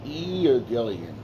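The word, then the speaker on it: εὐαγγέλιον: Euangelion, right? That's how you say it in Greek, right?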